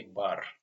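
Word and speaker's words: бар: Next example is actually start with letter that looks like number six but it's pronounced like B.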